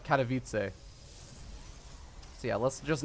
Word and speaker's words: Katowice: very very long time I was still saying cattle wife instead of Katowice yeah let's just not embarrass myself either way though Protoss vs.